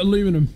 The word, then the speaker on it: aluminum: I got some aluminium. Or is it aluminum?